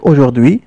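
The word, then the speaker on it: aujourd'hui: وراينا وهف بعدها مباشره هناك حرف اش الذي اتفقنا على انه لا ينطق اذا نقرا الكلمه وكان بعد حرف دي هناك مباشره اي التي تنطق اذا نقرا الكلمه هكذا كلمه اجدو تعني اليوم اي هذا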